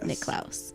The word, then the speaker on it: Niklaus: say my name is but you're the correct pronunciation is any Klaus yes that is really